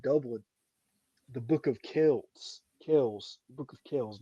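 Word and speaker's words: Kells: Kels. Book of Kels. Not the book of Kelts. Sorry. But I'm I've had a couple beers. I'm slurring. But you know, it's the Book of Kels.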